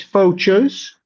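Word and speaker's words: Faucheuse: It's from France, so I probably won't pronounce this correctly, but uh the name of the band is Fo Chos. Uh F A U C H E U S E.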